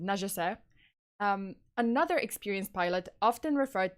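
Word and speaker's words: Nungesser: or charles i guess charles uh najese i think that's how we pronounce it najisai another experienced pilot often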